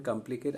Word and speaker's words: complicate: Now, how many syllables are there in complicate? I have underlined it. Complicate. So the last syllable, ultimate syllable is cate. The penultimate syllable is ply, and anti-penultimate is come. So the stress is on come. Okay.